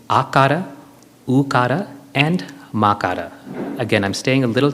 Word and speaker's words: makara: It is broken up into 3 syllables, akara, ukara, and makara.